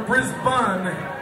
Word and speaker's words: Brisbane: Now, if it were Brisbane, it would be spelled B-U-N-N. Like a hamburger bun. It's Brisbane, motherfuckers! Say it right!